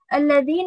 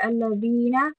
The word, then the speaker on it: الذين: الذين over here we learned again that it's the tongue the, right? You need to extend over here الذين, right? Because the ya has a sukuna, you need to extend there الذين.